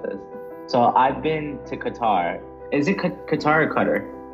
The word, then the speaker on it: Qatar: Somebody told me it's the British that say Qatar, and like, yeah, oh, that's right. Always, yeah, they're always trying to like make us Americans say Qatar, and I'm like, I think Qatar is closer to how, you know, you say it in Arabic.